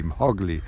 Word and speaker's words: Hogley: The hawklet's name, Hogley, Hogley, I love that, like Mowgli, Hogley, rhymes with eagle, yes.